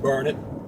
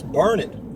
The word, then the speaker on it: Burnet: coming into Burnet Texas it's pronounced burn it but it's spelled b-u-r-n-e-t where net but they pronounce it burn it and if you go